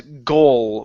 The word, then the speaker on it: goal: The word is goal with an L sound instead of go.